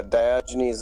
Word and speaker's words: Diogenes: for discord cool so you understand who uh diogenes is yes i mean you said it right